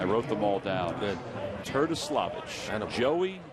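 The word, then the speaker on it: Terdoslavich: It's pronounced the way it looks, not the way it sounds.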